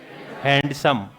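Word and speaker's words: handsome: हैंडसम। हैंड तो pump होता है। ये इसमें क्या है? साइलेंट है ये डी। डी क्या है? हैंड पंप हो सकता है लेकिन हैंडसम होता है।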